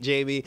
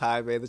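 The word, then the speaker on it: Jaime: she was just like okay have a seat Jamie and then he's like no it's actually pronounced High man she's like right over there Jamie and I thought that was funny because it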